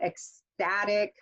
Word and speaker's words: ecstatic: Okay, we have these words that end in IC, tend to have that second to the last syllable stress. So ecstatic, okay, and notice I get that stress.